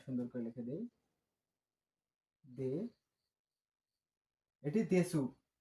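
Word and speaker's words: です: Adjective এর পরে এটি দেসু সরি আমরা সুন্দর করে লিখে দেই এটি দেসু এটি হবে দেস এটাকে বলতে হবে দেস দিয়ে বাক্য শেষ করতে হবে।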